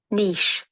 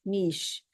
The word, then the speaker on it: niche: their Niche you know the word is Niche just let us see the pronunciation of this word and uh so it is NI i c h e and this is Niche Niche so fast foods have